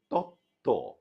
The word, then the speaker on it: তত্ত্ব: তারপরে তত্ত্ব, তয়ের সঙ্গে বফলা, দ্বিত্ব হলো।